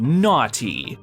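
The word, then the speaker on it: Gnawty: r looking thing called Naughty that's spelled g n a wty y like naughty but na like you're gnawing on a piece of beef jerky for instance the whole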